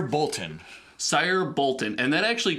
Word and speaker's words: Boltyn: How do you say his name? It's Sire Boltyn.